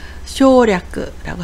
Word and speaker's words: 省略: 생략을 쇼라고 해서 쇼략라고 합니다.